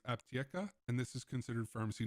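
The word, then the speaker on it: Аптека: of us North Americans looks like Antica, but I have been corrected that it is pronounced Aptieca, and this is considered pharmacy number 1 for this task.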